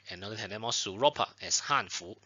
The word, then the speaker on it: Hanfu: Y ten cuidado con el tono, con la pronunciación, porque para los coreanos usamos Hanfu, es el segundo tono, ten cuidado. Si es el cuarto tono, sería Hanfu, son los chinos, y Hanfu son los coreanos para.